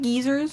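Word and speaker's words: guisers: would dress up and be called geysers pronounced geezers because they're wearing disguises which started the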